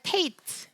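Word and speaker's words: ט: Tate의 발음은 트입니다. 트 발음 나는 다른 문자가 있지만 그냥 발음은 다르지 않고 그냥 동일한 발음이에요. 테이트는 트 발음이고요.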